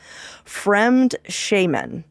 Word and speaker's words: Fremdschämen: And the word is Fremdschämen. And it's spelled exactly how you would think it would not be spelled, by the way, just so you know.